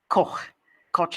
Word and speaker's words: Koch: Koch is how you say it in American.